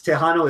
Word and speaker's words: Texano: If you're gonna call him Tejano, spell it with a J.